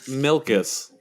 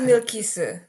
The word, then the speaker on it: Milkis: Look, it is Milkis. I just pronounce it the American way.